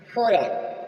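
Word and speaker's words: foreign: जी silent होगा रन रन मीस राज्य जी साइलेंट है नेक्स्ट चलेंगे फरन फरन मीस विदेश फोरेन न मीस विदेश यहां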